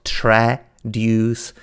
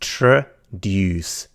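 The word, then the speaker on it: traduce: how to pronounce it it's not tre deuce for the love of god it is not tread duck it's just true dues click on it play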